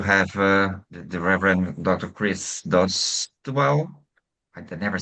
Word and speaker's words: Dowdeswell: Chris Dostwell. I can never say your name okay. I'll come back Dostwell, but very close. Dostwell, okay. Two syllables.